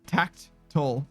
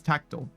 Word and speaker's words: tactile: te in there somehow no it's not tacked toll it's tactial yeah that's it tactial